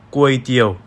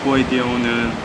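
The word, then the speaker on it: ก๋วยเตี๋ยว: 꾸에이띠오는 이렇게 쓰는데, 이 십자 표기가 있으면 태국어로 사성으로 발음하라는 거예요. 중국어 삼성과 비슷하게 이렇게요.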